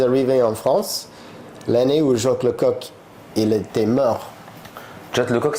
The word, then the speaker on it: Jacques Lecoq: Jack Lecoq. Jacques Lecoq.